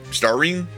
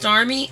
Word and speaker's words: Starmie: You said Star Ring. No. No, he said Starmie. You said Starmie. It Starmie. sounded like you said an R. No, give it to Starmie.